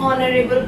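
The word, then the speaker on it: honorable: तो हो जाएगा यहाँ पे एन, ही इज एन ऑनरेबल person. ह यहाँ पे साइलेंट है और ओ से आवाज आती है, ऑनरेबल बोलते हैं तो एन आ जाएगा, ही इज एन ऑनरेबल person.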